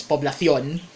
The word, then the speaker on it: Poblacion: in the in the um metropolitan spanish uh pronunciation of publishing it's poblacion okay so uh kalaunan she is referred to